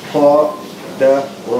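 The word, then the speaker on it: قدر: Qa, Da, Ra. No prolongation. Qadara.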